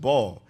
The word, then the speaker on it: Baal: That's how you pronounce it. Baal.